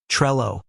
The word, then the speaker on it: Trello: now the Double L in English double L's usually create a single l sound think of little or ball so we're not dealing with a drawn out llll sound putting it together we're left with a pronunciation that sounds like Trello emphasizing the short e sound and keeping the l sound crisp and singular but here's where it